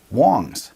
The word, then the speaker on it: Wangs: page love that so much here we go wangs is actually pronounced Wongs it's the most common last name in China